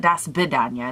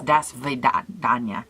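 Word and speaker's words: до свидания: wrong all these years it's not da svidaniya it's da svidaniya for the V da svidaniya but I really did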